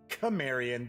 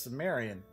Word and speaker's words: Cimmerian: Those eyes grew and became gigantic, and in them, the Cimmerian, although I have heard it pronounced Cimmerian, but I'm pretty sure it's Cimmerian, glimpsed the reality of all the abysmal and